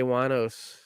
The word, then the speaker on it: Wuornos: Yeah, just always whenever you want to think of how to pronounce her name, just think of a wino.